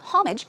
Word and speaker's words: homage: be respectful so pay homage too although it starts with an H the H is silent so it's not homage it's homage homage pay